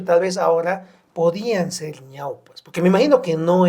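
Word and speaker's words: ñawpa: Y cuando se escribe ñaupa no lo hagan con U, háganlo con W, porque en quechua, lingüísticamente, la unión de vocales débiles y una fuerte y una débil hace el diptongo. Y eso en quechua suple la W, ñaupa, por eso se pronuncia y se escribe con W.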